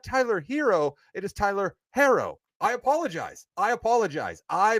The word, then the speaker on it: Herro: I thought the guy's name was Hero and apparently it's pronounced Harrow.